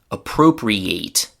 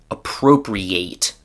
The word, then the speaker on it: appropriate: When it's a verb, the pronunciation is appropriate. So the main stress is still on the letter O, but there's also a secondary stress on the A at the end of the word.